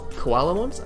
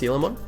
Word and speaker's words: Coelamon: We have 4 Koalamons, which are actually pronounced Coelamon.